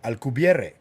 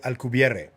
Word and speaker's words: Alcubierre: That is Miguel Alcubierre. That's how you pronounce it. Miguel Alcubierre.